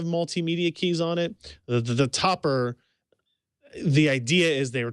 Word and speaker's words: Topre: I think I said Topre for a while, and people corrected me on that. So I'm going to go Topper.